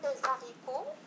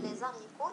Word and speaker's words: haricots: إذن كما في المثال هنا كما ترون j'aime les haricots verts. إذن لاحظوا هنا لم نقل les haricots، لا يمكننا أن نقول les haricots. لماذا؟ لأن haricots تبدأ بH aspiré.